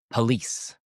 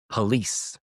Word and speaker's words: police: So, here the word police. Police. We don't usually say police. It's like the O doesn't exist.